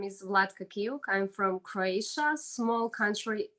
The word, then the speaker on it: Vlatka Kiuk: it's okay so hi everybody my name is vladka kyouk i'm from croatia small country in europe close